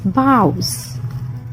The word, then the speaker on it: boughs: Our next word is boughs. B-O-U. Bow. G-H-S. Here G-H is silent, so we have B-O-U-S.